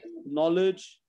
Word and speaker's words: knowledge: Again, K-N, the K is silent. No, knowledge, new, knit, right?